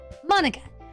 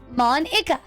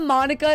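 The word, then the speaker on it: Monika: Manika, that's not how you say my name at all.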